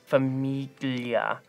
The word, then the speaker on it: famiglia: Famiglia. I'm gonna go with famiglia. Famiglia. I'm going familia. Think about Italian. This means close together. This means what are you saying? Awesome. Famiglia. Ah! Period. There's no G.